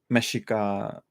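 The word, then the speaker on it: Mexica: mythology yet uh and that's the I probably butchered that uh hello Natalia yeah and yeah it's it's it's based on meshika mythology or Aztec but it's like ashika because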